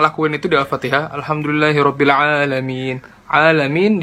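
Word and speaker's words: العالمين: itu di Alfatihah alhamdulillahirobbilalamin alamin dibacanya enggak jelas Ainun jadi Hamzah malah jadi alamiin yang tadinya artinya segala puji bagi Allah Tuhan semesta alam gara-gara kita baca Al Amin artinya malah segala puji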